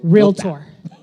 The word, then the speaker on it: realtor: Yes, we are the realtors. Um, and isn't that a fun word? You hear everybody say realtor. It's two syllables or realtor. Yeah, realtor.